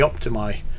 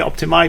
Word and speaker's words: Optimæ: optimi bit was uh it's spelled with the A and E in the book and my Icelandic friend called IA and he spelled with that with that letter which in Norwegian is a and that is the original old nor uh way of saying it is is I and not a and also the uh